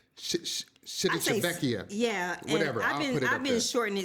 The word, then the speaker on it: Civitavecchia: Civitavecchia. Yeah. Whatever. I've been shortening it CV because it's kind of hard to pronounce. Do you pronounce the name of the city? Civitavecchia. Civitavecchia.